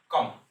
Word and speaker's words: comb: এর উচ্চারণ হচ্ছে কম নয়, এর উচ্চারণ কম, কম।